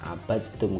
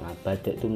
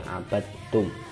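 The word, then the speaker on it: عبدتم: Kemudian abadtum itu langsung ketak bacanya, abadtum, nggak ngabadatum tapi abadtum, yaitu idgham mutaqarribain.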